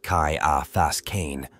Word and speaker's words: Ciaphas Cain: shiaas Kain pronounced Kai AAS Kain was a commissar of the officio profectus who